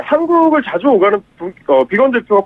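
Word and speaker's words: Biegun: 예, 한국을 자주 오가는 비건 대표가 푹 빠질만한 그런 맛이죠. 특히 이제 우리나라에서 그 비건 대표의 이름의 발음 이건 이제 비건 채식주의자를 뜻하는 비건이랑 이제 발음이 같기 때문에 네네.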